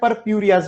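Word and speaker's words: purpureus: Okay, तो उसका pronunciation कैसे? परप्यूरियाज बोल सकते हो, परप्यूरिया, मोनास्कस परप्यूरियाज।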